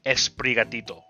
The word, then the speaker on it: Sprigatito: There's this thing where you always say E before any words in Spanish to have SP. So like the soda would be Sprite, or like the word for sword is espada. So this would be esprigatito, almost Spanish.